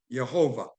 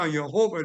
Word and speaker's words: Yahovah: on that study was yahovah and so now yahovah there is no J sound in either Hebrew nor Greek so now yahovah said